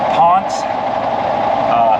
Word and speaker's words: Ponsse: It's actually pronounced Ponsse.